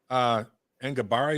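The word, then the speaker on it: Enagbare: Kingsley Ngabari, is that how you say it?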